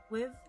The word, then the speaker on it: Wiv: Wiv rhymes with Shiv. Wiv?